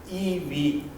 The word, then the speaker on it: EiV: Let me introduce our platform, which is pronounced EV.